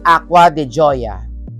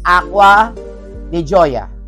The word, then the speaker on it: Acqua di Gioia: It's Acqua di Gioia. Repeat after me. Acqua di Gioia. A-C-Q-U-A. Yung Acqua de. Tapos, yung panlalaki is Gio. Pagpamabae, Gioia. Acqua di Gio. And Acqua di Gioia.